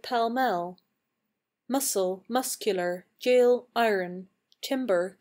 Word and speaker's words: Pall Mall: hard to tell why it's Pall Mall but pal Mel muscle muscular jail iron